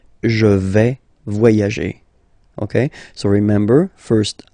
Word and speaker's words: je vais: Okay, first person here, je vais. Remember, final S not pronounced.